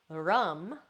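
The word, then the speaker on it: ram: Rum for the solar plexus, rum, R-A-M.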